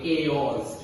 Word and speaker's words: chaos: इसे प्रोनाउंस करते हैं chaos. के की आवाज आती है chaos, which means a state of confusion.